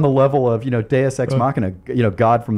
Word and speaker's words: Deus Ex: lesson I learned on DSX is don't think you're being cute and funny by uh calling your name your game DSX and if people mispronounce it they're just going to say do sex what what you discover